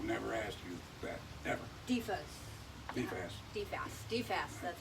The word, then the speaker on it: DFAS: DFAS, that's how you pronounce it.